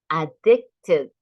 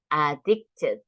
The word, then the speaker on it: addicted: it Robert is addicted do you remember the Ed pronunciation the verb ends in t so addicted addicted to his phone did